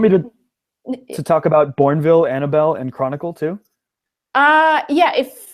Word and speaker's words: Annabelle: Normally Bell would be B-E-L-L, but this one having an E at the end, it's just silent because it's a name.